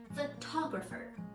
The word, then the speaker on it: photographer: use your head photographer photographer okay so number one photograph is dressed on the first syllable photographer is dressed on the second syllable so now here comes